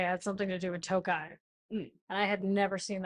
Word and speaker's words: Tokaj: When I told you it was called Tokai, not Tokaj, did I make fun of your pronunciation about it?